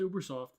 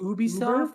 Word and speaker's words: Ubisoft: How do you say it? Ubisoft? No, it's Ubersoft. What'd you say? Ubersoft. Ubisoft? Like there's no R in it.